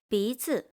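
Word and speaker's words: 鼻子: The second word loses its original tone, fu, and become neutral tone. bízi Nose.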